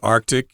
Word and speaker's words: Arctic: can't help it but most people just say Arctic and that might be easier for you to say oh oh